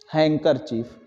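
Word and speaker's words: handkerchief: के चीफ ने कि यह लिखा तो जाता है हैंड अगर चीफ पढ़ा जाता है क्या चीज है को हैंग कर चीफ डी साइलेंट होता है अब इसका बहुवचन बनेगा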